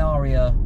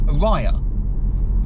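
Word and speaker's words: Ariya: nice lady actually but she pronounced the car orya and I did think to myself is she getting it wrong or have have Nissan now decided that that's how you should say that name of the car because you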